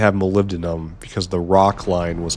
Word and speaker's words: molybdenum: molybdenum because the rock line was completely full.